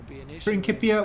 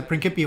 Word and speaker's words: Principia: I just get annoyed when people correct my pronunciation when it's actually the classical Latin. The problem is there's a modern Latin and modern Latin has the soft C. So, ancient Latin has a hard C.